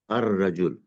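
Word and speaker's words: الرجل: You will say al-kitab, but you will not say al-shams. You will say ash-shams. You will say ar-rajul. So ash-shams and ar-rajul are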